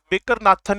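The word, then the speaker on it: Baker–Nathan: अगर Indian English में बोलना तो बेकर नाथन इफेक्ट हो गया, और जनरल प्रोनाउंसिएशन में बोलना तो बेकर नॉथन इफेक्ट हो गया।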